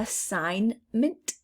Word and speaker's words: assignment: do not hear a assignment assignment again there's that g i don't hear any g listen listen there's a